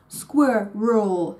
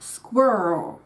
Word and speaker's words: squirrel: even get that far one thing that can help with this is the awareness that we are in fact dealing with a two- syllable word and not with a single syllable word which is something that many Germans intuitively think about when trying to reproduce it so it's squirel not squirrel so basically we tend to rush ourselves with a second syllable